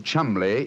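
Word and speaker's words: Cholmondeley: Being an American, he had no reason to know that the name Chumlay is in no way pronounced the way it is spelled.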